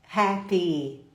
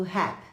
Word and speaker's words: happy: tô mega hiper feliz Happy estou feliz I'm happy eu ouço muita gente falando rap como se fosse um persecuta é só um Pepa não Happy i happy tô feliz